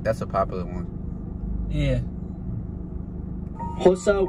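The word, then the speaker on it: Xhosa: Hosa with a click, that's how you pronounce an X. Swazi, Tsonga, Swan. That's how you pronounce the X, the Don't laugh because you're making me laugh.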